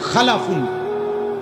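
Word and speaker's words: خَلَف: আরেকটা হল খালাফুন। একই শব্দ শুধু উচ্চারণের মধ্যে একটু ভিন্নতা। মাঝখানে একটা লাম আছে। এই লামটার মধ্যে যদি সাকিন হয় তাইলে হল খালফুন। আর যদি লামের মধ্যে জবর হয় তাহলে হল খালাফুন।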